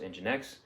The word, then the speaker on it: nginx: that develops and supports the webserver nginx is pronounced nginx it is a high performance software used for